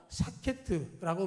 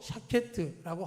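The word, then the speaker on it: שקד: 살구나무, 히브리 말로 샤케트라고 말하는데 지켜준다, 지킨다라는 말도 샤케트라고 합니다. 그러니까 똑같은 발음인 것이죠.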